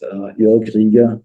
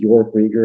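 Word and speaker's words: Jörg Rieger: Joerg Rieger, the way we pronounce it, Joerg Rieger in English.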